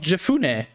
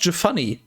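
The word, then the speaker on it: Jephunneh: caleb the son of jefune jafani actually i just realized it's probably pronounced jafani uh the the kennezide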